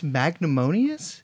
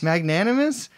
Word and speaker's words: magnanimous: also surprisingly I guess magnimus is that the word is that how you pronounce that magnanimous magnanimous well he's nice about it